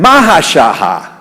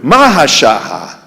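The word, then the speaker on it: מה השעה: what time is it it should have been mahashaha that's what is pronounced in Hebrew mahashaha what time is it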